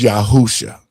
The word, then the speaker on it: Yahusha: If Jesus wasn't the name of the Savior because it's Yahusha, and this is why I'm saying what I'm saying, it was Yahusha. That's the Hebrew pronunciation of what the Greeks took and turned into Jesus, right?